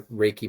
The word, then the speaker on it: RACI: So it's a Reiki model, or RACI, depending on how you say it.